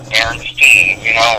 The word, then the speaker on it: Berenstain: I'm with you, I clearly remember it as, steam too, because I remember my papa telling me, no, you're saying it wrong, it says Berenstain, he corrected it, and